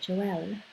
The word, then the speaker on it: Joelle: So this is Joelle. Is that how you say it? Joelle? Yeah, that's right.